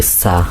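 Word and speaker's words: ثَ: দাঁতের আগার সঙ্গে লাগাবেন আপনার জিহ্বার আগা উপরের দুই দাঁতের আগার সঙ্গে লাগান সা দেখেন উচ্চারণটা আগা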